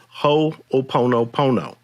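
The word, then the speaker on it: hoʻoponopono: referring to is a hawaiian spiritual system called ho opono pono don't have to remember it don't have to spell it don't have to say it but it's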